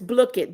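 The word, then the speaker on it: Blooket: It's Blick it. B L O O K E T.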